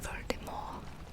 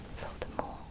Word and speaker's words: Voldemort: Lord Voldemort, as it's supposed to be pronounced. Voldemort, like the French pronunciation.